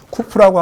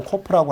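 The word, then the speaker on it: קוף: 쿠프라고 하기도 하고 코프라고 하기도 하는데 K 발음이죠.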